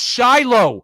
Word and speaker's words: Shilo: I have no idea how to pronounce that first name. It's Shiloh.